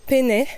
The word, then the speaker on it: Peney: monts au-dessus de Chambéry le mont Penet Penet je pense que ça se prononce Pénet quand même mais bon il est